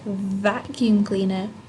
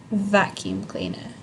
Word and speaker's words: vacuum cleaner: sound when you say vacuum cleaner you don't close your mouth you actually put your teeth on your lips a little bit and you make like a vibration vacuum cleaner vacuum cleaner it's worth practicing the